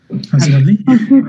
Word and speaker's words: consequently: Consequently. A ver, va. O sea, ¿cómo lees esto? Consequent. No. Consequent. Okay. Consequent. Y cuando le pones el li, el consequent sigue siendo el acento.